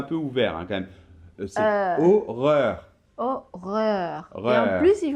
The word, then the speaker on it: horreur: différence parce que regarde si tu dis horreur et on peut pas lire horreur re re re non non non non non non non c'est juste horreur et on continue troisièmement